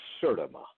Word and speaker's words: Sertima: And that is, they came before Columbus, Ivan Van Sertima. Ivan Van. Spell that last name.